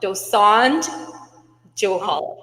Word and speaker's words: Dosanjh-Johal: Michelle Dosand Johal, but the kids just call me Miss DJ.